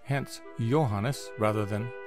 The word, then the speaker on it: Johannes: and finally to John in German A J is pronounced like a y in English hence Johannes rather than Johannes unlike the English tradition